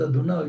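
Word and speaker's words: יהוה: Tetragrammaton, Yodei Vav Hei, which according to the practice of reading the Bible in Israel since the middle of the Second Temple period, is pronounced Adonai because of its holiness.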